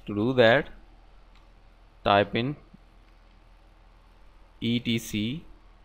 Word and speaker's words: etc: do that type in ETC some people also pronounce is that at C so inage do D